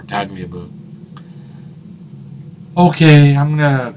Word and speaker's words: Tagliabue: The only reason I know that's how it's pronounced is because I've heard the name before, Tagliabue.